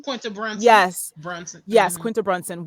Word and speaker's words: Brunson: Is that how you pronounce her last name? Quinta Brunson.